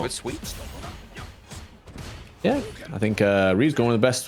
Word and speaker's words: Ryu: Apparently it is Ryu, but I don't see it, man. I don't see it. I mean, it's the Japanese pronunciation Ryu. That means dragon.